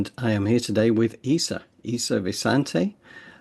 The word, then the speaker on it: Vasanti: This is John Drew here from Elevated Planet, and I am here today with Isa Visante. Is that pronounced correctly? Is that Visante, Isa? It's Vasanti.